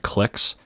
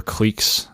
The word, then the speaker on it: cliques: So when your Go stones are just seem to be hanging out together, they're like cliques or cliques, depending on how you want to pronounce it, and they're just kind of huddled in certain areas, that's not generally a good thing.